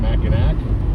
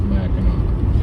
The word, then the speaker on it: Mackinac: made the name Mackinac, but the French put a C on it. And those that pronounce it Mackinac, everyone looks at them with an eye of suspicion, because no matter how it's spelled, it's Mackinac.